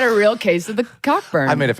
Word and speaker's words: Cockburn: Wait, it's really pronounced Coburn? It Okay, but this is the thing. In In Scotland, it is pronounced Coburn.